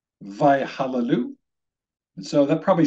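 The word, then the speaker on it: וַיְהַלְלוּ: This word at the end of the first line is pronounced vayhallelu, vayhallelu.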